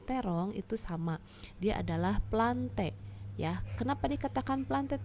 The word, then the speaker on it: plantae: itu sama dia adalah plante ya Kenapa dikatakan planted tapi di sini ditulisnya plantae a kalau untuk dalam biologi adane di akhir itu dibacanya jadi e jadi untuk Kingdom mereka